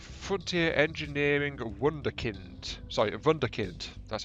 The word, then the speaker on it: wunderkind: Sorry, a wunderkind. That's how you pronounce that.